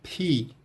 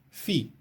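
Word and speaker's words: Φ: No grego clássico, o nome dessa letra, na pronúncia reconstituída clássica, seria Pi, Pi, representando um som de PH. E no grego moderno, Fi, com o som de F.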